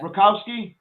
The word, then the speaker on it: Rakowski: are you because I'm am I saying it right yeah Rakowski Rakowski yeah yeah that's Justin Rakowski